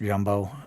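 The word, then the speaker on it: Grumbot: Um it's pronounced Jumbo.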